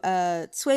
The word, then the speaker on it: Cui: But so for Cui Bùqù, we have Cui. That's going to be the first tone. So Cui, and remember that C because it's CUI. C is like TS at the end of cats.